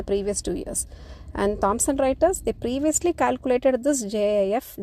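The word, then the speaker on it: Reuters: across the word Thompson writers r t RS pronounced as writers company has a portfolio of products and services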